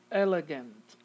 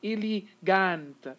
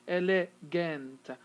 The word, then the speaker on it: elegant: we're going to have elegant elegant schwa here and schwa here because you're not going to say ili gante you're going to say le gent so the schwa is taking the place of the e and the a celery so schwa here